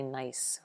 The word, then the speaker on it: gneiss: way that is pronounced nice the G is silent it's a mad nice